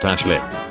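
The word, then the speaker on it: Aisling: Celtic languages aif is pronounced EA eelin is pronounced Ashlin K is pronounced K naom is pronounced naive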